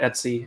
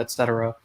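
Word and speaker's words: /etc: It seems like some people call it Etsy and some people call it etc.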